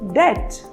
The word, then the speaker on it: debt: As debt or debt? Well, the correct pronunciation is debt because the letter B is silent.